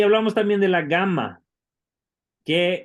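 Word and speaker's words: gamma: hablamos también de la gama que siempre siempre se pronuncia como una G fuerte de gato verdad nunca como G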